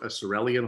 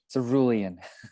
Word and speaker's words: cerulean: hulks and now you've met the cirelian hulks i've assumed i'm pronouncing that correctly what is it tom cerulean cerulean hulks i always see it